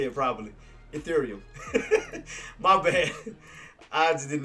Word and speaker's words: Ethereum: Ethereum.